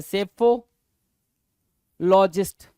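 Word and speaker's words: psephologist: हो गया चुनाव विश्लेषक सेफो जहां पे पी क्या है साइलेंट है सेफो लॉजिस्ट सेफोलॉजिस्ट क्या होगा पी साइलेंट होगा एस से स्टार्ट करते हैं पी साइलेंट होता बोलना एस से स्टार्ट करते हैं स्पेलिंग पी से ही स्टार्ट होती है बट इस प्रोनंसिएशन के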